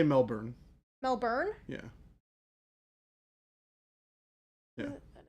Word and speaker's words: Melbourne: would say Melbourne like Mel I'd say Melbourne melburn yeah yeah like I would never say it